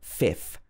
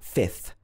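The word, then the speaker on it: fifth: So strictly speaking, this should be if, then a th. So a f plus a th. 5th and 6th should be s plus a th. So a s plus a th. They're very difficult sounds together. But when you're speaking quickly, it's very difficult to say that.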